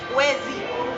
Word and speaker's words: Wezi: Yeah, and it's a 2-syllable word, Wezi.